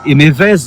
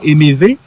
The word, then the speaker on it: Hémevez: Pour le prononcer Émévez, mais il n'en est rien. C'est vraiment Émévé.